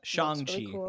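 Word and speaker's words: Shang-Chi: kind of mcu people that are like like shanxi and the eternals although the eternal is like shangji that's the correct pronunciation i i apologize tweets showing us how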